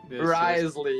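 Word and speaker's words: Wriothesley: I actually still don't know how to pronounce his name correctly, but you guys know what I mean. Mr. Risley. Risley, yes.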